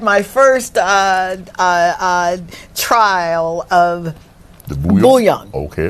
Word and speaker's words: bouillon: I had my first trial of the bouillon.